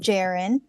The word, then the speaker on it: JAREN: above at the band jiren and jiren is spelled like Karen with a J so j a r